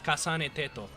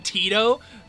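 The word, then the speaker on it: 重音テト: That's crazy, because that's how it's pronounced in Japanese. It's Kasane Teto. If anyone's saying Tito, you need to put him down.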